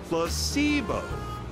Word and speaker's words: placebo: me scum scum scum placeo H the stress is on the Middle s very good you're figing